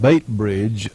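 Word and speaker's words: Beitbridge: Post Office Box 49, and I suppose that's pronounced Baitbridge, Zimbabwe.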